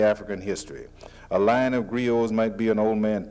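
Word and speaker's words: griots: by the old men who are called grios it's spelled g-r-i-o-t-s they are in effect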